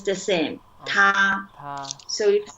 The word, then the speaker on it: 他: yeah, 他. Yeah. So in Pinyin and the pronunciation, hey and she in Chinese, we all call it 他.